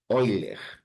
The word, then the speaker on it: Euler: correto é número de oiler se escreve eer ó se escreve Euler Tá mas Euler é no matemático alemão a pronúncia correta é eiler então é um Ezinho